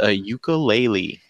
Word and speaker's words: ukulele: Hey, Jose, real quick, I caught you on 30 Minutes with Deluxe today, and it's pronounced ukulele.